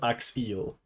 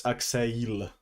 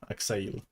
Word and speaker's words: Axeiiyl: But the correct pronunciation... no, it's not Axeill. There is no eels in my name. It's Axeill. Like E sound. Axeill.